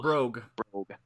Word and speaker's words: brogue: Yeah, and I always pronounce that wrong. It's not bro, it's like bro. Brogue.